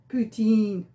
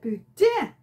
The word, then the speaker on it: poutine: order it correctly, because the English, they say poutine. But if you want to be a true French-Canadian Quebecois, you pronounce it poutine, hein, n'est-ce pas?